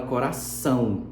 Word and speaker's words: coração: Esse O do final tem som de U, porque a gente não fala coração O, a gente fala coração.